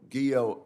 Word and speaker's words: Guillot: to help um General guo I note that your name rhymes with hero is that right yeah